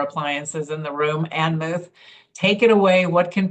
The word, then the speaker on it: Muth: Ann Muth, take it away. What can people expect at your very, very cool space? Notice how I didn't say booth because I didn't want it to rhyme with Muth, and that's awkward.